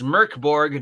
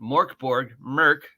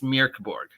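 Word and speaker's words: Mörk Borg: It's Mirkborg. Like mirror, like almost like meow, but it's meow. Like the K should be, from what I understand, a lot less emphasis on the K than normally if you're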